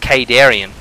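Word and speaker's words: Khaydarin: you actually listen to The Campaign it is pronounced kadarian um the kadaran am amulet is not out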